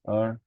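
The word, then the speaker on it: 二: and also there is a Chinese character that is true and it is pronounced as R and in this R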